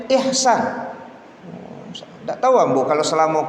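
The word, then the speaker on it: Ichsan: Tapi kata beliau, ini H Ustaz. Jadi bacanya Ihsan.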